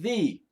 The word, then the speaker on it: the: word V I didn't say that I said thee why because the word after th e the next word starts with a vowel AEIOU so then th e is pronounced V not the okay so thee is an article it's an article not it's